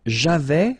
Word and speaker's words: avais: J'avais, final S not pronounced. Tu avais, same thing.